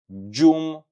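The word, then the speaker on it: gjumë: So, remember the g plus j, you are going to pronounce it this way. J. J. J. For example, sleep in Albanian, you can say gjume.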